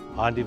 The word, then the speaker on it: endive: The pronunciation, endive, honors the origin of the plant in Belgium, where almost 2 centuries